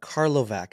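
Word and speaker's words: Karlovac: moved to a different city called carlovak I believe is how it's pronounced to attend high school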